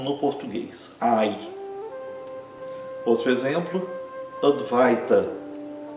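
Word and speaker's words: अद्वैत: O ai é pronunciado exatamente como no português, ai. Outro exemplo, advaita, advaita.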